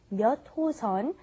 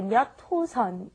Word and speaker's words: 몇 호선: All right, and be careful with the pronunciation when you say 몇 호선. You want to say 몇 호선. It's kind of like it's not written that way, but that's how you want to pronounce it.